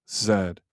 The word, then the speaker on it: Zed: Uh, and it is pronounced Zed, not Z, Zed.